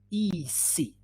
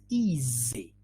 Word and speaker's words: easy: activity is easy no ec no this activity is easy yeah easy so the sound in the middle has got some vibration let's look at oh